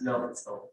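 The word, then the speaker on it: L'Hôpital: That's why it's It's silent, but the S is there. We pronounce it as Lobthor, but there is hospital, healthcare.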